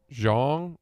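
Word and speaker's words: Xiong: guy though explain this it's x-i-o-n-g but you pronounce it Zhang or Zhang Zhang they just wrote pronounced j-o-n-g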